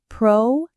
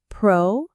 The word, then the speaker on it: proactive: Three syllables. Proactive. Again. Proactive. The stress is on AC. Proactive. You can see the word active inside it which means doing something. The pro part at the beginning means before. So it literally means to act before.